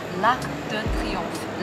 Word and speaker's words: l'arc de triomphe: 对对对。那我也想作为一个正在学法语的人，这个对发音是有很多的这个困扰哈。那我们就先从巴黎的著名景点开始教学。可以。第一个，埃菲尔铁塔。埃菲尔铁塔用法语说是 La Tour Eiffel。La tour 就是塔的意思，Eiffel，La tour Eiffel。好，下一个，凯旋门。凯旋门用法语说是 l'arc de triomphe， l'arc 就是其实就是那个拱形的门，嗯，triomphe 就是凯旋的意思，l'arc 胜利，对，就是凯旋门。